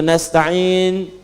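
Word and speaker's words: نستعين: nast yang kedua itu nastain dibacanya menggunakan fathah ujungnya sukun Jika ada yang baca menggunakan kasrah itu dari bani Tamim Bani Asad di antaranya kemudian yang paling penting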